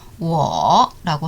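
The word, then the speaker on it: 我: 오가 성모 결합 없이 단독으로 음절을 만들면 우 떼고 W가 와서 우어라고 발음하죠. 삼성을 붙여서 우어라고 하면 바로 나라는 뜻이에요.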